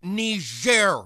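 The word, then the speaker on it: Niger: power all right take the shot it's pronounced ner Mr President and it's a country in Africa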